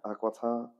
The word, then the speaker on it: Aquitaine: How do you pronounce Aquitaine? Aquitaine?